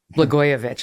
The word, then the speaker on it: Blagojevich: your campaign signs even showed people how to pronounce blagojevich with the blah yeah which now it